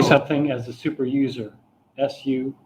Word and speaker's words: sudo: well, but there's somebody who says SOO-DOH, and that's a suggestion. And I say I file it under sudo, PSUDO. And then Paul Johnson says no, it's quite different. And I say, how so? Silent P should be the same. And he says, it's the difference between, and now Paul's British, it's the difference between YOU and OO.